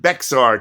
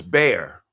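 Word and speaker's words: Bexar: Some people might call it Beexar County the way it's spelled, but it's Bayer anyway.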